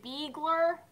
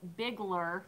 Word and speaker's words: Bigler: Bigler bie gl yard everyone say Biegler Biegler and I'm like no it's Bigler that's how you pronounce